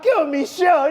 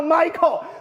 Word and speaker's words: Michelle: what happened again His name is Michelle Yeoh Do you know what he called her? Michael Yeoh Michael Yeoh Nope My name is Michelle You call her Michael Michael is a boy So he even pronounced people's names wrongly.